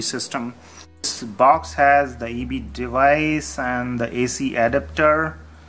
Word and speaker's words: ibi: that's called eb um it's spelled as ibi but that's how you call it eb and this is like